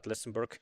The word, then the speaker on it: Lëtzebuerg: It's Luxembourg, but you pronounce it Lëtzebuerg in Lëtzebuergian against the team from Tilburg, the Schrobkes.